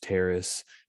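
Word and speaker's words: Taris: levels of terrace t-a-r-i-s i say terrace because like paris i believe that's how it's pronounced in nicely old republic i just reinstalled that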